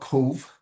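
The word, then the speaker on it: Cobh: So I live in a place called Cove. That's the way it's pronounced.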